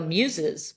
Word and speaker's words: Meuse: but I was like just say Muse like the rock band so I went into